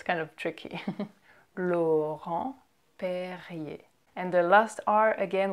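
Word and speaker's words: Laurent-Perrier: in this video right it's kind of tricky lo home PE and the last are again we don't pronounce it it just er can sometimes be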